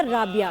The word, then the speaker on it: राबिया: अब ये क्या पहले इनका स्पेशल- नाम भी पूछे, रबिया या राबिया? ये दो प्रोनाउंसिएशन होती है स्पेलिंग के साथ। राबिया, राबिया।